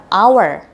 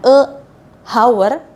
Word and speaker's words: hour: Kemudian kata hour, memang tulisannya diawali dengan huruf H, tapi kita membacanya diawali dengan a, an hour. Jadi an hour. Jadi bukan a hour, bukan, karena dia bunyinya hour, jadi kita pakai an hour.